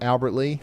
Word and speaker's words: Albert Lea: Oh, I got the pronunciation right on Albert Lea?